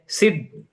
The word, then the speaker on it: सिद्ध: बताया उन्होंने, कैसे, सिद्ध, सिद्ध पहले उच्चारण सिद्ध, और फिर लेना है ध, ध। अब उच्चारण कैसा होगा, सिद्ध, सिद्ध। तो अपने आप जोड़ाक्षर के पहले अक्षर पर जोर देकर अपने आप आ जाता है।